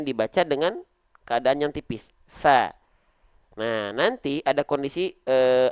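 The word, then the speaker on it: ف: huruf yang tebal Oke tapi untuk huruf ini kita enggak baca fo tapi kita baca FA Kenapa karena huruf Fa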